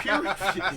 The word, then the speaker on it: Pyrrhic: A Pyrrhic.